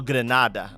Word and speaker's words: Grenada: Forbes is from, how do you pronounce that? Grenada, Mississippi? Oh, Grenada.